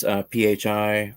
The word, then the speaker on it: phi: Yeah, the Fibonacci sequence, PHI, or phi, if you want to say it like that.